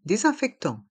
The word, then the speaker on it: désinfectant: se prononce un et le S a le son ze parce qu'il est entre deux voyelles le E e accent